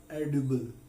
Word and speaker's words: edible: So this is the word which is pronunciated as edible.